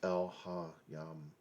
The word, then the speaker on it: Elohiym: on the Creator, Yahweh, Elohiym, which actually I've just recently learned would be maybe better pronounced as Elohiym.